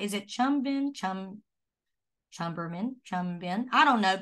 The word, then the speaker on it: Cherubim: on the, how do you say, is it chumbin, chumberman, chumbin? I don't know, but it's an angel. That, say it again. Cherubim. Thank you, Dina. When Angie ain't here, you got to be my word pronouncer, Dina.